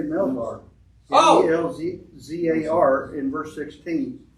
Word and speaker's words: Melzar: Yeah, I said Malchor. It's Melzar.